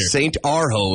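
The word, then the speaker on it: Urho: St. Arho. It's spelled U-R-H-O.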